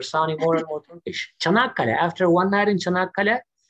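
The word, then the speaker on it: Çanakkale: The Chanakale. Chanakale. Chanakale. The CH is what I always get stuck on. You don't sound American anymore. You're sounding more and more Turkish. Chanakale.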